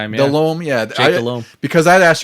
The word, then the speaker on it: Delhomme: Delom. Yeah. Because I had asked you how to pronounce it.